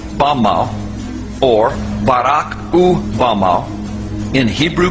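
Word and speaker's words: במה: which Satan fell is Strong's Hebrew word 116 pronounced Bama Bama is most commonly used to refer to a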